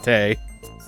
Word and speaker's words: Date: This is a Japanese game, of course you pronounce it Date.